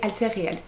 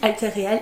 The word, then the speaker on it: Alter Real: chez Alter Real euh j'ai demandé la prononciation on peut le dire de toutes les manières possibles mais l'éditrice m'a dit que c'était alè Réal bref de bas donc je dis altter Réal et non plus altter RIL comme je disais